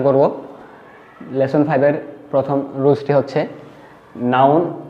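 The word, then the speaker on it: へ: Lesson 5-এর প্রথম রুলসটি হচ্ছে noun. এই নাউনটা অবশ্যই একটা প্লেস হবে, তারপরে এটা একটা পার্টিকেল। আমরা বর্ণমালা এটাকে হে পড়েছিলাম, কিন্তু যখন পার্টিকেল হিসেবে বসবে তখন এটার উচ্চারণ হবে এ।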